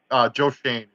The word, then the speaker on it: Schoen: And his last name is actually pronounced. Say it again. Joe Shane.